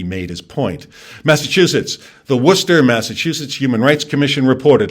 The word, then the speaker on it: Worcester: the way i'm from massachusetts and yes it's pronounced worcester new york state new york legislative leaders recently